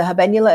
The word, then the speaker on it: habenula: to be intimidated um the habenula is spelled ha a b n u l a i mean I'm just proud of myself that I said it right I know right like